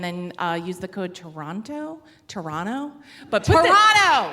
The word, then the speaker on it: Toronto: uh use the code Toronto Toronto but Toronto put the T in the code because you guys do it like it's spelled not how you pronounce it and you'll get a